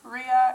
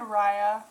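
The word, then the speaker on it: Riya: both proper pronunciations because four out of the five sites all agree that Ria and Raya were both correct so r i y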